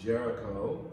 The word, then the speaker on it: Géricault: are some french names ger ica ult is pronounced jericho and this painting is entitled raft of the